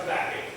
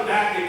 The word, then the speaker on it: Habakkuk: The ancient Israelites probably pronounced it Habakkuk, but we pronounce it Habakkuk.